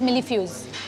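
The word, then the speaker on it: mille-feuille: hai, millifuse thing, but maine usse pucha to pronunciation, she said it's millifuse.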